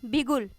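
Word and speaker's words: beguile: अब इसको आप प्रोनाउंस करिए इस तरह से, बिगुल। यानी बिगुल। अब क्या होता है फ्रेंड्स,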